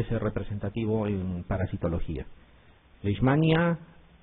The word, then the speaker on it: Leishmania: ya algunos quieren pronunciar lesmania o leismania y no es así. La pronunciación correcta es leismania, ¿ya? Porque hay una s y una h, ¿ya?